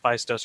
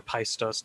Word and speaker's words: Phaistos: Phaistos or Paistos disc for 20 points on toss-up 8.